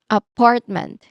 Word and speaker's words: apartment: Apartment. Okay. It is stressed on the second syllable. Part.